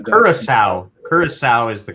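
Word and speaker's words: Curaçao: How to pronounce Kura? Trinidad. Kurissau. Kurissau is the correct way to say it. Kurissau, Kurissau, Guadalupe, US Virgin Islands.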